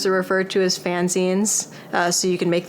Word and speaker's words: zine: And sometimes people mispronounce it as Z, but if you just think of it as cutting the word magazine short, that's what it is.